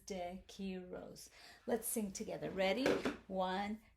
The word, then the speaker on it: DeQuiroz: the way i'm mrs dakiros in case you forget how to pronounce this mrs de kiros let's sing together ready